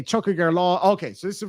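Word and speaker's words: Tiocfaidh ár lá: Some people pronounce it Chuckier law. I think up north, depending on the dialect, as I was talking about earlier, some people would say Chuckier law. Some people, I would say Chuckager law because I come from the south.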